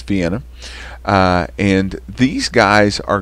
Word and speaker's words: Vienna: vienna elementary school but in the rest of the world not scott county it's vienna uh and these guys